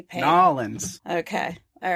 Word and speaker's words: New Orleans: Now, I know I didn't pronounce that correctly, Pake. Nolans.